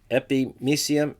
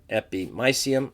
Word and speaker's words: epimysium: for the Perry museum so I've heard it pronounced epimysium epi my cm I don't really care you can go whatever